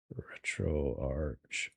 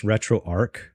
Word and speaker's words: RetroArch: I call this retroarch, not retroarchch because retro arc makes sense to me. Retroarchcade. Retroarchch. I know it's spelled arch, but ch can be a k sound, too. So, I call it retro arc.